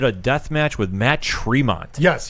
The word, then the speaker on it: Tremont: death match with matt tremont yes he said his last name wrong he said he's like i know i'm saying it wrong but matt traymont it's not true but yes he i